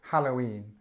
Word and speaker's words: Halloween: a long word um you do find that there's a little secondary stress here so Halloween and you can see without that it would just be all lost it would be all lost in the first syllable the first couple of syllables so have a go